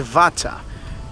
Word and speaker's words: Vatsa: (Europe) : C'est la plage d'Agios Nikolas - Vatsa (FT) : Comment le prononcez-vous ? (Europe) : Vatsa !